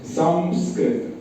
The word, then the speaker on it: संस्कृत: जैसा उच्चारण होता है कहीं कहीं पर लोग संस करके उच्चारण कर देते हैं लेकिन संस्कृत के जो विद्वान है वो इसको ऐसे ही बते इसका उच्चारण सम करके होना चाहिए संस्कार संस्कृत तो ये